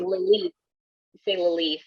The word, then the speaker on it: Lilith: dot lilith and daughters i say lilith because that's how you have to spell it is lilith but i'm jamaican and we say lily fella right that's so stupid